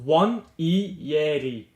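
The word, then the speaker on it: Nwaneri: I believe it's pronounced Wanyeri.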